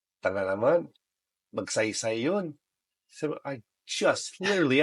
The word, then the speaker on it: Magsaysay: He's like, tala naman, magsaysay yun. So I just literally asked you, how do I say this? Read it how it's written. It's written Magsaysay.